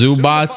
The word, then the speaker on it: Zubac: kawhi pg hello zubox i know his name is pronounced zubots like azubats but like it sounds trash so i like to say zubach but i've been trying